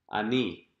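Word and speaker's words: אני: Or the word for I, ani.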